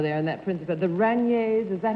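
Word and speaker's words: Rainiers: The Raniers, is that how you pronounce it?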